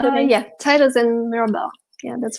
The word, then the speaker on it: Titus and Mirabella: Did I pronounce that correctly? Yeah, Titus and Mirabella.